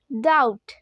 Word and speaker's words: doubt: সন্দেহ কথাটাকে ইংলিশে বলবো ডাউট। ডাউট মানে সন্দেহ, ডাউট। তো এই প্রোনাউন্সগুলো তোমরা ভালো করে বোঝো। আমি দেখো DOUBT, এখানে কিন্তু বিটা সাইলেন্ট রয়েছে, তাই আমরা বি এর উচ্চারণ করছি না।